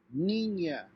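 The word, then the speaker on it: niña: have this symbol over n it's pronounced like ny so in this case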